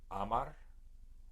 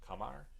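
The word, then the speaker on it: قمر: Amar, which means moon, but it could also be pronounced kamar in some of the other dialects. I study Lebanese primarily, so they would say Amar instead of kamar.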